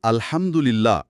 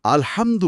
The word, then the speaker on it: আলহামদুলিল্লাহ: প্রতিলিপিতে একটা উদাহরণ দেওয়া হয়েছে, ধরুন আলহামদুলিল্লাহ, সমস্ত প্রশংসা আল্লাহর, বলতে গিয়ে যদি হায়ের জায়গায় গলার নরম হা দিয়ে আলহামদু পড়া হয়, তাহলে অর্থ হয়ে যেতে পারে সমস্ত নিন্দা আল্লাহর, নাউযুবিল্লাহ।